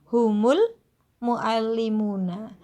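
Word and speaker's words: هم المعلمون: Kalau di contoh ini hum al muallimuna, maka secara penulisan dan secara pengucapan hamzahnya dihilangkan, humul muallimuna, bacanya dihilangkan, tulisannya juga dihilangkan. Itu namanya hamzah wasol, hamzah yang sambung.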